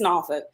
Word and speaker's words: Norfolk: that norfolk that's right you gotta say it right don't you get cute and go to l.a and be like i'm from norfolk it's norfolk i correct people yeah